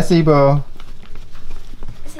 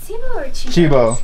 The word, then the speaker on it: Sibo: Hi, Sibo. Chibo. Hi, Chibo. Okay. I didn't know. Well, it's spelled Sibo, but it's pronounced Chibo.